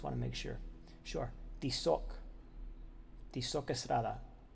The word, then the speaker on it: Tizoc Estrada: Tizoc Estrada. It would be the proper pronunciation.